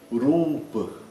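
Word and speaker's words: rūpa: Então, tem uma série de rituais que podem ser feitos e o nome desses rituais é o ú, o longo e o a curto. Rupa, rupa.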